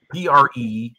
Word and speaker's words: Prescott: P-R-E-S-C-O-T-T. Right. Well, it's pronounced Prescott. That's how you say it. Prescott. There you go. The natives say it.